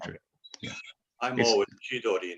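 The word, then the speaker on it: 千鳥: Yeah, they don't pronounce it jihogiri. Yeah, no, it's not true. It's not true. Yeah, I'm always chidori, not sidori.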